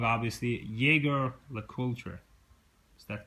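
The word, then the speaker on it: Jaeger-LeCoultre: useful I have uh and I'm going to pronounce this wrong obviously Jagger La culture is that correct it's called jlc um reversal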